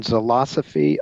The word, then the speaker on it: Zilosophy: the book is again selasa fee on golf it's spelled like philosophy but with a Z instead of a pH it's a play on